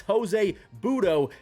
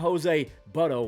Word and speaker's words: Butto: It's Jose Butto, not Jose Butto. Why would it be Butto?